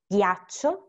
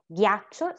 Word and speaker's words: ghiaccio: And then we have here again, when we add the H, we do not pronounce it, but it's going to become ghiaccio, spaghetti. Okay? Ghiaccio, spaghetti.